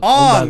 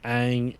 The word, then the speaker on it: Aang: I understand, if you're pronouncing Aang with, the way an A is pronounced in, Asian countries, it'd be Ong, but that's not how they pronounce it in the show.